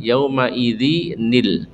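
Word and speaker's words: يومئذ: ya jadi di sini asalnya yaumaidin tanwin menghadapi yaitu alif lam ya Sehingga maka nunnya dipisah yaumaidinil ya jadi jangan sampai salah bapak ibu ini asalnya yaumaidin ketemu dengan alif lam cara bacanya yaumaidinil pakai Nun ya pakai pakai Nun Saya ulang ilabika yaumidinil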